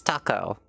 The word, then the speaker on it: taco: We are not pronouncing it that way. It is taco.